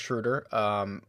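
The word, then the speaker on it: Schröder: It's pronounced Schroeder.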